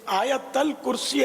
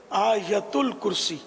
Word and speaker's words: آیت الکرسی: جواب ارشاد فرما دیجیے۔ یہ آیت الکرسی عوام بولتے ہیں، صحیح تلفظ ہے آیت الکرسی۔ سر پر رکھ کر